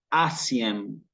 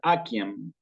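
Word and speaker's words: aciem: una palabra como esta, se les escapa decir asiem, asiem, ¿sí? Pero nosotros ya vimos que acá se pronuncia como una K, con lo cual esta palabra nunca va a ser asiem, sino va a ser aquiem, ¿sí?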